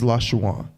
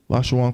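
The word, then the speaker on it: לשון: get that crap there the real word is la shawan la shawan quidash which means tongue holy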